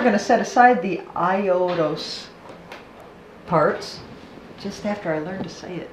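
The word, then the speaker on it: Aiolos: tell you uh AOS this is AOS I'm wrong AOS it's hard to say it I haven't even said it right yet it's iOS AOS iOS okay so I ow you st SE fans and iOS apology because this is IOS he is the older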